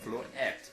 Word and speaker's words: Floette: Flabebe is not really that interesting, but its evolution Floette is very Floette. It's there's no T. Floette. No, you don't pronounce it like that. I think it's supposed to be French.